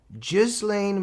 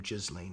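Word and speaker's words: Ghislaine: Gizlane Maxwell, some say Gizlane. I think she even pronounces her own name Jizlane if I'm correct.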